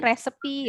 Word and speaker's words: recipe: Bacanya recipe ya.